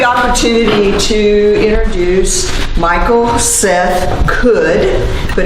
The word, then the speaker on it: Cudd: I have the opportunity to introduce Michael Seth Cudd, but it's spelled C-U-D-D, but it's pronounced C-O-U-L-D.